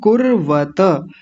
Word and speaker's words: कुर्वत: किम कुर्वत इसको बोलेंगे कुर्वत।